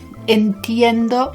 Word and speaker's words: entiendo: going to be like la pronunciacion of entiendo sounds like anti endo entiendo means i understand i